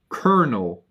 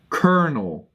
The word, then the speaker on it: colonel: One of those English words that doesn't look anything like the spelling. Kernel. COLONEL. Kernel. You don't have to guess. I spell it for you guys. Colonel. Like the colonel in an army, you know? Or Colonel Sanders from KFC.